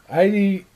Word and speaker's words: Aiti: It's Jui, but Aiti rhymes with mighty.